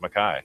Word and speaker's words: Mackay: Morgan Mackay. Yeah. Spells her name, or when you look at it on paper, it's Morgan McKay. McKay. But it's how her family says it is Mackay.